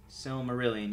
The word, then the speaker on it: Silmarillion: the similar the symptom ur brilliant sill Silmarillion pronounced Silmarillion yeah it's the cut it's a collection of